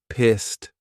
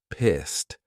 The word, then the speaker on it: pissed: a past simple verb but the sound of that Ed head is a very soft T pissed pissed now when we say this in a sentence and there are words that come after you almost don't hear that t so you can't really